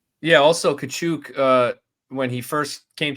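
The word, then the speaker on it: Tkachuk: tchuck that's how they announced called tchuck that's how they announced him at the game and that's how they referred to him and then finally they said you know what we'll use your correct pronunciation and they called him kachuk after that he's Ukrainian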